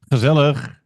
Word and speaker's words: gezellig: Gezellig. You have to, a little bit Yes. more emphasis on the last part, Benny. We need to hear it on Gezellig.